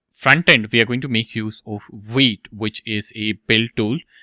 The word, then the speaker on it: Vite: So you can see this is pronounced as Vite.